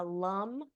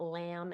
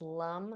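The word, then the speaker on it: लं: these are the seed sounds for each chakra Lum and these are all pronounced with a so that a in the middle it's not lamb it's Lum the a in Sanskrit is pronounced a so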